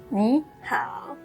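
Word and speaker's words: 你好: When two third tones are put together, the first third tone changes into a second tone.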